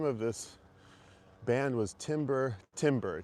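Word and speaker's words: Timber Timbre: But, anyway the name of this band was Timber Timber. t i m b e r t i m b r e Timber Timber or Timber Tamber.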